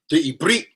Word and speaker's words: Eberith: We never had a language called Hebrew. It's the Eberith, to say it properly. This is why when I be Akmevin Eberith, I don't say Akmevin Hebrew. Akmevin Eberith. Atamevin Eberith. Ken, sa. Animevin sa Eberith. Yeah, speak a little Hebrew. We don't say Hebrew, it's Eberith. That's the proper pronunciation.